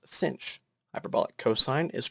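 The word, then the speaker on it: sinh: are still very different hyperbolic sine is pronounced cinch hyperbolic cosine is pronounced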